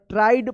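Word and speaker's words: tried: My sister फिक्स्ड the little pink ribbon the थीफ ट्राइड इसको ट्राइड पढ़ेंगे। टी आर आई ई डी यहां पे आई ई का आई उच्चारण होना ट्राइड पढ़ेंगे। इसको ट्रीड मत पढ़िएगा।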